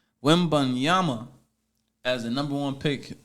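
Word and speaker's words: Wembanyama: got Victor let me say his name correctly women Yama as a number one pick for the San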